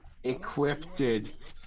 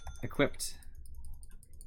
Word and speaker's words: equipped: have my bad words equipted guys I'm awful equipted equipped I feel like I feel like your mental